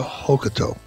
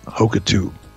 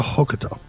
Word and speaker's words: Hokuto: and by the way it's a cure hokuto not hoka tube just for the record and i don't mean to be a dick because sometimes i know i can be but it's akira hokuto shinobu i just want